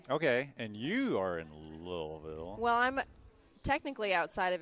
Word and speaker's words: Louisville: And do you live in Louisville? Louisville? Louisville.